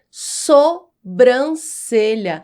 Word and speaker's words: sobrancelha: aqui, você sabe que a pronúncia correta é sobrancelha, da forma como a palavra é escrita.